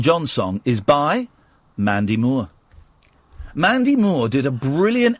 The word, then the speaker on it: Moore: Well, that's how it's pronounced, mate. Moore.